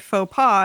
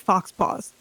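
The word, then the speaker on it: faux pas: about that um where someone uses the word faux PA and the other character stops and says is this the one that looks like it should be pronounced Fox Paws yeah Fair yeah and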